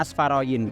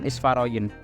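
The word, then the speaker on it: Asfarayin: Bacanya Asfaroyin, bukan Isfaroyin.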